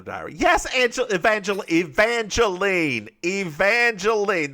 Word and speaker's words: Evangeline: Evangelene. The woman's name is Evangelene. It's too many syllables. Not Angelina.